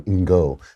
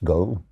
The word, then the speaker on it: Ngo: It's Andy Ngo. That is his name. Ngo, I guess. Go.